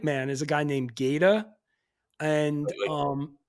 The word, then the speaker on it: Gata: is a guy named geda and um like gator or Gator g-a-t-a okay but pronounce Gata like short for alligator and this guy is